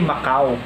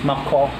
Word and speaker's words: Mako: Sabi ko kasi Macau. Bansa pala yung Macau. So yung pronunciation is Mako.